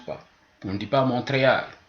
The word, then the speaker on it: Montréal: seulement à la fin il y a certains mots aussi qui contiennent des consonnes muettes à l'intérieur du mot l'exemple le plus facile pour nous c'est Montréal dans Montréal il y a été